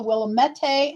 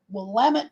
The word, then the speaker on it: Willamette: It is not pronounced the Willamette, as many people think. It's called the Willamette River.